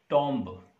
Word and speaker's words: tomb: It's not tomb, it's tomb. Ta, oo, and m. Tomb. Ba sound at the end of the word, when it comes after ma sound, m sound, this is phonological rule that this sound is not pronounced.